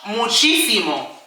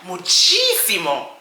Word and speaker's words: muchísimo: VERY MUCH, MUCHíSIMO. muchi simo. Remember accent on the first I, muchísimo, muchísimo.